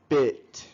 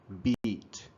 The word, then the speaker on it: bit: of this word okay this word is pronounced bit okay not beat okay this bit this